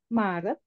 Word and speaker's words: Maret: and then June in Indonesia Juni repeat the pronunciation March please Maret Mar Mar Maret Mar thank Oke and then